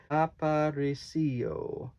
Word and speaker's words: Aparicio: I even pronounced it wrong. Aparicio. Yalitza Aparicio.